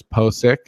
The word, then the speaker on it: Pocic: center guard Ethan Pocic, and that's a pronunciation that I've gotten off of, I think, his draft profile or off of Twitter, a reliable Twitter source, Pocic.